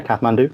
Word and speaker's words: Kathmandu: I was born in Kathmandu. Is that right? The pronunciation? Yeah, Kathmandu, Nepal.